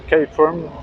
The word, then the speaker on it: Caterham: Après, on a des Caterham, des K-Firm, si on la prononce à l'anglaise.